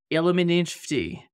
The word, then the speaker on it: Illuminfti: Today, I've got with me the one and only Illuminfti. Did I pronounce it correctly?